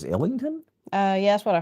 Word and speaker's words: Islington: I think the S is silent. Islington. What do you think it is? Illington.